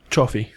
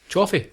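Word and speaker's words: Cioffi: Before we move on to that scene, Sidney Ritter was played by Charles Now, how would you pronounce that, Ian? C I O double F I Chioffi. Chioffi.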